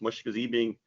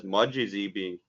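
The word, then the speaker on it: Mashkiziibing: Europeans couldn't properly pronounce Mashkazibing and interpret it as Mudjizibing, which would roughly translate as bad river.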